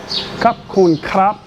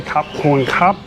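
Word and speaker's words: ขอบคุณครับ: Khop Khop Khun Khrap. Easy to say Khop Khun Khrap.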